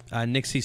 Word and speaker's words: Nixie: Nixie spelled like pixie with an N.